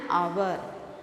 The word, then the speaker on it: hour: should add an mla an honest shopkeeper an hour an honest person it's an honor all this